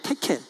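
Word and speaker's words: תְּקֵל: 데겔인데 원래 그 원문에는 테켈이에요. 테켈. 발음이 테켈이에요. 근데 데겔로 그냥 이렇게 우리말로 그냥 번역을 했는데 테켈.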